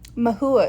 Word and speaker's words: Maihua: Maihua is how you say my name.